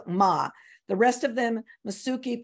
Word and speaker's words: Mma: I do know that the pronunciation of MMA is Ma, because yesterday, Tom looked it up for me when we were working on pronunciation. So there's Ma.